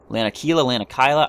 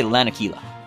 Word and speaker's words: Lanakila: Lanakila? I don't know how to pronounce these things. I say Lanakila.